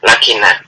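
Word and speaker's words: لكن: Kan lam kaf nun ini bisa dibaca lakinna, bisa dibaca lakin.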